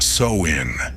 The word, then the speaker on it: Samhain: Pronounced Samhain, this marked the end of the harvest season and the beginning of winter, a time when the boundary between worlds blurred.